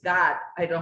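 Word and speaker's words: Gad: God, it's not God, okay, it's God. I don't know how do you pronounce G-A-D.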